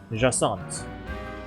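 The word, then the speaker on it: Jacinthe: Jacint.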